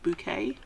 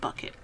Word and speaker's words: Bucket: bouquet and her name was spelt bucket but she insisted you pronounced it bouquet it wasn't bucket there you go so